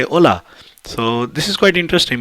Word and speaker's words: hola: it says hola so h is silent in spanish so we say hola so this is quite